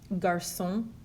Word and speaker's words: garçon: The cedilla, it only exists on a C, and what it does is changes the pronunciation from a hard C sound like a K to a soft C sound like an S.